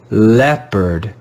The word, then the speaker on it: leopard: in this word they'll be read with the sound e the short e sound this word is leopard leopard leopard this again is irregular